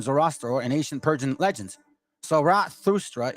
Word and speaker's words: Zarathustra: Zarathustra is the best approximate on how to pronounce his name.